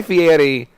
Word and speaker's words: Fieri: Listen, Guy Fieri is like... Why do you roll his R? That's like how he pronounces Fieri.